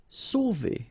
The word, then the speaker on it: Sauver: Sauver. Okay, remember when you combine A and U, you get the sound O. So really like the letter O.